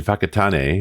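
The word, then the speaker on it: Whakatane: And we went up to the beach in Fakatan and Fakatan is spelled wh Okay. It's like what? Fakatan. Fakatan. Fakatan. Yeah. WH is an F sound in in Maui.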